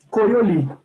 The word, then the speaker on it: Coriolis: Coriolis. Ou, se você quiser usar a pronúncia em francês, Coriolis, tá bom? Tanto faz. Eu acostumei a falar Coriolis, então eu falo Coriolis.